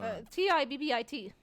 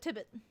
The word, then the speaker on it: Tibbit: Or Tibbit. Like ribbit, but Tibbit.